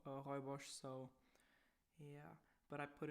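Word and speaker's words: rooibos: pronounce it in german because it's written like roy bose but i think it's pronounced it's pronounced for hoibosh so yeah but i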